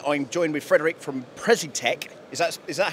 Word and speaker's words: Precitec: Okay, guys, so today I'm joined with Frederick from Precitec. Is that how we pronounce it?